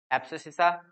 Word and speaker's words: abscissa: Clear, लेकिन एक्स वाली value को हम एब्सिसिका बोलते हैं, एब्सिसिका। स्पेलिंग देख लेना भाई, ABSCISSA, एब्सिसिसा।